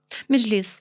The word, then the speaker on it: Mejlis: Of course, this is also right after or shortly after the referendum that they shut down the Mejlis. Am I pronouncing that correctly? The Mejlis? Mejlis.